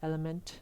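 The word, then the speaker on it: LMNT: me like I mentioned element electrolytes it's spelled l MNT I drink it actually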